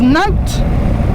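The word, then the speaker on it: Knowth: often overlooked is um is note spelled with a k it's even far more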